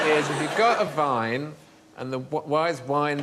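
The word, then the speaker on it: Wein: going to say Vine but the Germans say Vine and spell it with the w ah so why is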